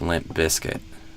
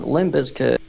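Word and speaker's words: Limp Bizkit: do but I think it's limp biscuit and the stress goes on the bis or bis or however it's pronounced on that syllable.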